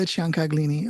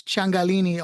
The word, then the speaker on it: Ciancaglini: So without further ado, here is Leila Ciancaglini of RLC Talent Agency.